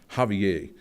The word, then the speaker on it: Javier: The J is pronounced like we pronounce an H, Javier.